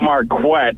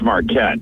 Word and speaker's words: Marquette: town I forgot well you pronounced it marquet but it's Marquette Marquette okay Mar CL